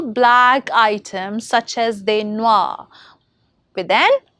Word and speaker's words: noir: Now consider black, noir.